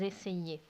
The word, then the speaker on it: essayaient: And then for the imperfect, the ending for they is AIENT, and that's pronounced ils essayaient.